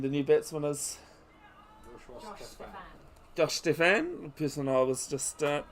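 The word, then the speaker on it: Stephan: new batsman is Josh Stefan, the person I was just talking about. Spelt S-T-E-P-H-A-N, but it's pronounced with the F instead of the PH.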